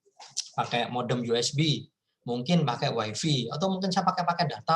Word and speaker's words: Wi-Fi: ya, Anda sering pakai Wi-Fi, ya, bacanya Wi-Fi, bukan Wi-Fi ya, Wi-Fi bacanya.